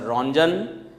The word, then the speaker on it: Röntgen: Röntgen in the year 1895. T is silent, so we should pronounce Mr. Röntgen, who had discovered X-rays in the year 1895.